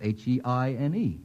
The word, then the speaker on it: Heine: Well, it's H-E-I-N-E, which is even easier to pronounce.